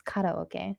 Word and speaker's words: karaoke: So just letting you know that, when you see it or when you hear it, you know that, hey, that guy's saying it wrong. It's karaoke.